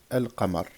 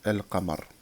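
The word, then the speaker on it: القمر: On dit al-qamar. Ash-shamsu al-qamar. D'accord? Le lam est sakin, il y a une soukoun, al-qamar. Et on le prononce normalement.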